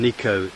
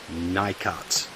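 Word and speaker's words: Nicot: Okay, on Niko, by the way, to my American friends, the correct pronunciation is Niko, not Nikat.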